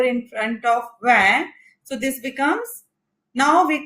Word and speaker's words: vingt: So here the last vowel is I. So we do not pronounce NGT.